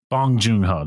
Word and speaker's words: Bong Joon-ho: directed he's fairly uh young as well um bong joong ho that's that's his name um he's directed um